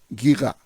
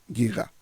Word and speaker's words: Giger: Pronunciación correcta del señor que nombró es Hans Rudi Giga. Hans Rudi Giga.